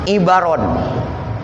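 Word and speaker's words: عبر: Nah, lapad ibaron ini bikasril aini wa fathil ba. Dibacanya dikasrahkan ainnya, dipatahkan baknya, ibaron.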